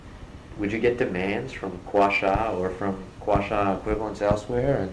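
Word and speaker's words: Kwasha: How do you pronounce it? Quasha. Robert Quasha. Quasha.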